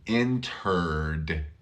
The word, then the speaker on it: entered: you have entered entered this is a hard word inter er er er look where my tongue is it's back here entered entered I see you